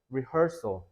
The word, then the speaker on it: rehearsal: rehearsal, her를 살짝 이렇게 좀 올려야 된다.